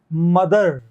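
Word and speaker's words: mother: क्या दे रहा है मदर मदर मदर मदर में यह द का साउंड है द दवात वाला मदर तो थ द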